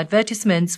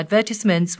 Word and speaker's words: advertisement: Most of our advertisements were in... 자, most of our advertisements 나오죠? 영국식 발음으로. 자, advertisement 아니고 advertisement. 자, 이게 그 강세가 달라지면서 발음이 굉장히 달라지기 때문에 발음 잘 기억하세요.